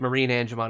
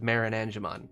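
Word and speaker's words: MarineAngemon: in most cases so like marine angemon instead of marin angemon it's supposed to be a marine right like whatever the reference book says you pronounce it marine all right gilman two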